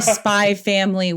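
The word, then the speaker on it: Spy×Family: spy X Anya operations you don't pronounce the X by Anya operation memories but there's an X there if you're Googling it um spy family um as I joked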